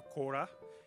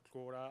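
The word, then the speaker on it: kora: will be playing this amazing instrument called the cora it's spelled k-o-r-a and it's made with a calabash uh the wooden bridge and 21 strings some people say that the quora is an ancestor of the harp it's uh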